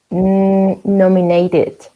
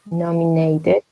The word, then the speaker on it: nominated: So Nestor, how do you pronounce this verb? Nominated. Nominated. Yes, because with it.